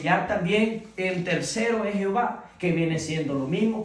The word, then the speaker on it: Jehová: Jehová viene siendo más a lo latino con las vocales. Si usted se da cuenta, es la pronunciación de lo mismo de Yahvé. Yahwé. Simplemente que le han cambiado las vocales de Edoná, se la han puesto a las vocales de Jehová, Jehová, la e, la